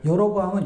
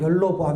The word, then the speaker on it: 여로보암: 한국말은요, 밑에 있는 리을이 일로 받침이 붙여도요, 말이 돼요. 여로보암은 열로보암 이렇게 해도 되거든요. 발음상.